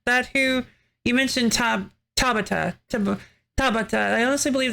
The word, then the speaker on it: Tabata: I guess it's Tabita. Is that that who you mentioned? Tab Tabata.